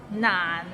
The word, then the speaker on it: 難: So it starts with n and ends with another n. Nan, and it's in a low tone, so nan.